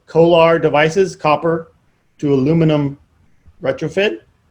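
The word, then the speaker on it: CO/ALR: have these things called kolar devices copper to aluminum retrofit uh c-o-a-l-r but they pronounce it colar c-o-a-l-r for uh copper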